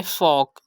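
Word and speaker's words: folk: हमने इसकी प्रोनाउंसिएशन करनी है टॉक, एल को साइलेंट करना है। थर्ड एग्जाम्पल है वॉक, फोर्थ एग्जाम्पल है यॉक एंड फिफ्थ एग्जाम्पल है फॉक।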